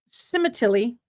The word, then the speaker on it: Sementilli: But Cemetilly is, how you say it.